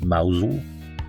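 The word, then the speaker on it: Mousehole: This impossibly cute little town, pronounced Mousel.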